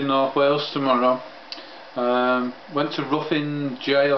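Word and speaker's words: Ruthin: Went to Ruffin Jail. I think it's pronounced Ruffin. My daughter reckons it's Ruffin because the name Ruth is R-U-T-H. But Ruffin in Wales is spelled R-U-T-H-I-N. Right, I reckon it's Ruffin and Jail.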